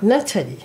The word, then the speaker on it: Nathalie: Did I pronounce that right? Natalie.